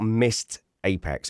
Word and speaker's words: Missed Apex: Go and check out Mist Apex." And you have always have to spell it cuz it sounds like Mist like Mi S. You always have to say Mist Apex. M I S E D.